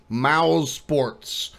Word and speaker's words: MOUSESPORTS: MOUSESPORTS, not MOUSESPORTS, not MOUSESPORTS, not anything else you're thinking. It's MOUSESPORTS. That's how it's pronounced.